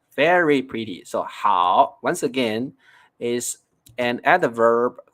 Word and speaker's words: 好: like how okay it it's originally it's like the third tone how and now you see it becomes how it becomes the fourth tone how okay also with the